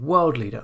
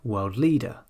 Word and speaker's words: world leader: And instead of saying world leader, we say world leader.